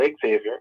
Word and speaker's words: Xavier: good friend over there Xavier Murphy um sorry not Xavier let me say it right Xavier Murphy uh I